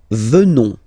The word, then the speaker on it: venons: Nous venons. Okay? O-N-S, classical ending for nous. Okay? Final S not pronounced.